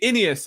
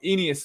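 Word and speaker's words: Ainias: on the inas Smith see inias I realized I got the name wrong enus Smith not anal Smith I'm joking not not anus Smith um but the reception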